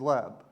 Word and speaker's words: leb: The Hebrew word for heart is lab, which we would have The way we pronounce it would be l-e-b.